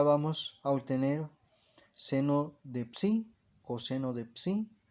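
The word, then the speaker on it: psi: este caso para sí letra griega que es así se pronuncia sí como una especie de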